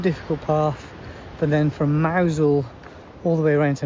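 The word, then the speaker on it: Mousehole: But then from Mousel all the way around to Morazzian flat and tarmac I think this is said under and over.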